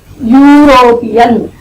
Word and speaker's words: European: European. Again we are pronouncing it as Y.